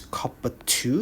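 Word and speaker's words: copper(II): not fixed at all this is copper two you pronounce this a copper ii it means you have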